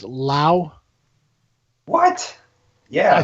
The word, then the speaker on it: Lau: This is Brian, and I don't want to say this wrong, but is your last name pronounced Lau?